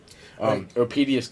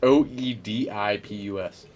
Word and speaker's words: Oedipus: Opedius complex.